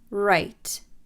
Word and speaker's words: write: Write.